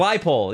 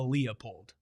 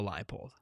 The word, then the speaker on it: Leipold: Totri beat me in a pronunciation off. First time ever. It's Leipold. Yeah. Let's go. That's big for the program, man. It's no surprise that Shane would favor a Leopold over a Leipold.